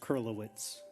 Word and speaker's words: Kurylowicz: It's pronounced Kurylowicz.